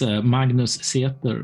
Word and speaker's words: Magnus Seter: Magnus I pronounced that right oh well it's Magnus theater but english-speaking people can't pronounce my name so that's the English close